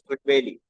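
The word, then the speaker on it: Trygve: His pronunciation is Tryggve.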